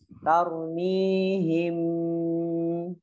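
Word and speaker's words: ترميهم: Contohnya sebagaimana yang kita tadi contohkan, tarmihim gitu ya. Tarmihim, bacanya ditahan.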